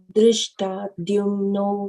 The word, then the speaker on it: dhṛṣṭadyumno: So now here, be mindful of the H and the absence of the H and the presence of H.